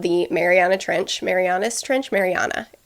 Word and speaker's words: Mariana: happened in around the Mariana Trench Marianas Trench Mariana it's pronounced Mariana the deepest part of the ocean